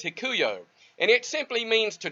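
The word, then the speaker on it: ἑλκύω: greek word 1670 and how you pronounce that is hikuyo and it simply means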